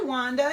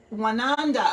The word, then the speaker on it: Wananda: So let's start out with, hi Wanda, yay! Wananda, I'm sorry, I said your name wrong.